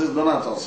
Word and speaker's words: Donatus: It's Donatos here in Nigeria. It's Donatos? Yeah, it's Donatos. Oh.